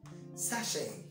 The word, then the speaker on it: sachet: I've heard that word pronounced as sachet. No, it's not sachet. It's sachet. Sachet.